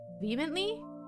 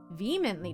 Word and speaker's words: vehemently: Vehemently. Vehemently. Not. So you don't say the H at all.